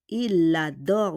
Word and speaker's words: il adore: Il adore. We need to do a liaison.